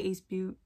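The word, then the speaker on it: Ace Beauté: don't know but then they have the accent on the e so i'm gonna just say ace butte let me just go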